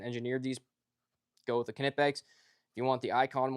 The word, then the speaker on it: Knipex: Knipex, you do actually have to pronounce the K. It's not Knipex, it's Knipex.